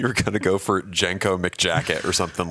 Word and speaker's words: JNCO: Are you talking about Jinko? Jinko? Are you saying Jenko? Maybe it's a regional thing. There's no vowels in it. How are you supposed to pronounce JNCO? Jinko.